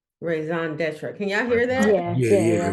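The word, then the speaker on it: raison d'être: So I guess I want to see how this word is pronounced. Raison d'etre.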